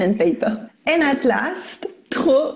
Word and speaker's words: trop: And at last, trop with a silent P means too much, or too many.